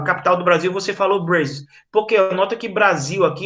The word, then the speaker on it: Brazil: do Brasil, você falou Brazil? Porque nota que Brasil aqui ele foi escrito ó, com Z, né? Então quando vocês virem Brasil escrito com Z, a pronúncia é Brazil, certo?